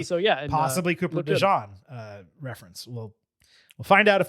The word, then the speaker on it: DeJean: Is it DeJean? Yes. Yeah. I was like, wait, did I hear? I thought you said Deshaun.